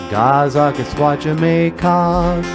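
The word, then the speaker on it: Gaa-zagaskwaajimekaag: So I wrote a song about Leech Lake, how to say it in Ojibwe. Gazaka Squatchamacog.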